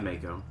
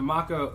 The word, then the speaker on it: Mako: That one, you don't call that the Mako ever. No. Mako. And it's spelled the same. Well, it's because it's the Mako, like M-A in Japan is Ma, it's not May. It would be M-E.